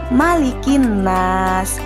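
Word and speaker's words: مَلِكِ النَّاسِ: malikinnas ingat ya anak-anak huruf mim yah tidak boleh dibaca panjang misalkan malikinnas itu bukan yang benar adalah malikinnas malikin Enas anak-anakku juga harus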